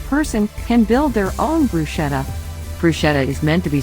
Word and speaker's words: bruschetta: Bruschetta, pronounced bruschetta, is an Italian appetizer or antipasti that starts with a base of toasted or rolled bread.